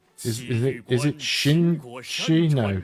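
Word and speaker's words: Qin Shi: is it is it Shin she no Q is not pronounced as a q though I can never remember with Chinese the letters don't mean what you think they mean all right he's attacking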